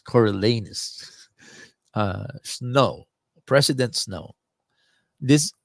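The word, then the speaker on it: Coriolanus: we were laughing at the last syllable of his name is sounds like anus coralus uh snow President Snow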